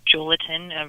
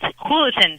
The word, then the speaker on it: Julaton: So the J is actually pronounced as an H, kind of like when you say Jose or Jesus, etc. So it's Julaton.